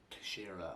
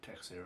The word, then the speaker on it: Teixeira: a fight nice santos versus shira or texara however you want to pronounce it but i think it's tashira um again mma happened